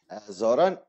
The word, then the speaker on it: Zoran: tell me the the the the right um pronunciation of your first and last name Zoran is my first name and is the